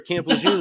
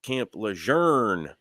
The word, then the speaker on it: Camp Lejeune: would tell me that it's supposed to be pronounced Camp Lejeune like with an r in it and they'd be stubborn